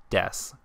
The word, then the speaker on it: desu: sound a bit more we bish it is pronounced desu the reason for this is because there are